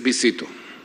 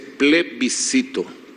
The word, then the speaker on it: plebiscito: decía de esta forma eran un visito pues visitó no se dice así se dice plebiscito le visitó qué fue